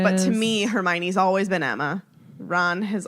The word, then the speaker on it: Hermione: remember what i remember i pronounced hermione incorrectly her tony i think i said her her moan or something like that